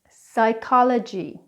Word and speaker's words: psychology: like the words pneumonia psychology receipt now let's go through those words again it's not pneumonia it's pneumonia it's not psychology or psychic it's psychology or psychic it's not receipt its receipt.